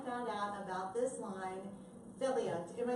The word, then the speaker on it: Felia: That's why when I found out about this line, Philia, am I saying it right? No. Tell me how I say it. Philia.